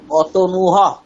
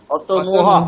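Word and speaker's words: অতনুঃ: বলছি অতনু অতনর্থা অতনুহ অতনুহ নয় অতনুহু অতনুহু অতনুহু অতনুহ বিসর্গ উচ্চারণের এর নিয়ম বলেছিলাম আগের দিন যে আগে যে স্বরবর্ণ থাকবে তার মতোই হচ্ছে হ এর পরে স্বরবর্ণ বসাতে হবে বিসর্গ উচ্চারণের সময়।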